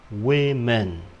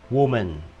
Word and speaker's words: women: Nó không đọc là woman, mà đọc là women. We men, chữ y và chữ y đây. We men, women. Trên này là woman, woman.